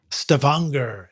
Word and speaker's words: Stavanger: graduate education in audio at the University of Stavanger in Norway. Did I pronounce that right? Stavanger.